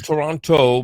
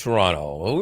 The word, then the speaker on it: Toronto: from Toronto Canada and we have to get to Toronto pronunciation correct Toronto Canada uh you probably think it's Toronto but it's Toronto we won't get into that too much we are we have